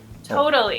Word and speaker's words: totally: Totally. It's like a little D-ish sound in there.